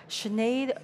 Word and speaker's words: Sinead: so my name is Sinead it's not Sinead O'Connor but I'm grateful for her because makes my name pronounceable and I run our